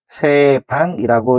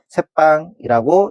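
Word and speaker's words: 셋방: 차관이 되고 그다음에 고간 그다음에 퇴간 수자 회수 세방이라고 읽을 수가 있습니다. 근데이 여섯 개의 단어들은 어 한자의 사이오시프트 그래서 착간, 곡간, 색간, 숫자, 횟수, 새빵이라고 읽으셔야지 표준화가 되는 것입니다.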